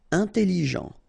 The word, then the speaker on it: intelligent: Important final not pronounced intelligent final not pronounced intéressé intéressant fino gentil